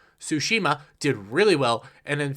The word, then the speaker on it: Tsushima: do well ghost's ghost of tsushima goes to shushima I cannot say it right tsushima did really well and in fact showed all